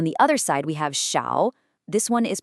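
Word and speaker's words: 小: Now, on the other side, we have shiao. This one is pronounced sha. And this is the third tone which has this distinct falling then rising quality.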